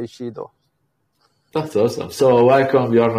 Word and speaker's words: Shido: Shido is actually the correct one, to be honest, because it's Japanese and they say Shido.